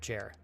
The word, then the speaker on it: Jer: Like Jeremy, but just the first syllable. Jer. Oh, Jer the Geek.